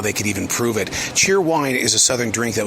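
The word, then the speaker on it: Cheer Whine: Cheer Wine is a southern drink that was created in Salisbury, North Carolina.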